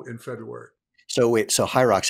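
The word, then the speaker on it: HYROX: in uh Chicago in February so wait so high rocks how do you spell it h-y-r-o-x okay you're gonna you're gonna get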